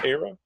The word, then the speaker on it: Ara: now Google with project what how do you pronounce it ARA era so ARA yeah ARA is here or being developed and